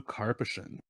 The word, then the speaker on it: Karpyshyn: His name is Drew Karpyshyn.